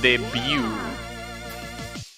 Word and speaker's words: debut: It's pronounced debut.